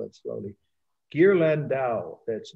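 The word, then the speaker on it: Ghirlandaio: italian last name sorry i'll spell it slowly gear landau that's d g as in you know good g h i r l a n d a i o is pronounced gear lindau 1480 this is a secular painting so that's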